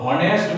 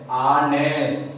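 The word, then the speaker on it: honest: एस टी, ऑनेस्ट मैन, इसको हम लोग हॉनेस्ट मैन नहीं पढ़ते, ऑनेस्ट।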